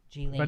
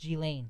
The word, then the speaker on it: Ghislaine: I can still barely pronounce Ghislaine. G-Lane. If I didn't say Jizz all the time, I would be lost. G-Lane.